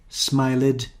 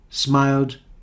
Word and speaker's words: smiled: mistakes with the pronunciation because they think that the other examples are the same livid smilid turn it but no this is different there is a different rule for these verbs so this one started invited hated but here we have lived smiled turned now why is